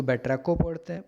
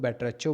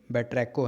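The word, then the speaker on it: batrachophobia: उसको देख के बेट्रैको, इसको बेट्रैको पढ़ते हैं, बहुत लोग बेट्रैचो भी पढ़ते हैं, बट ये बेट्रैको है, एच साइलेंट हो जाता है, ठीक है।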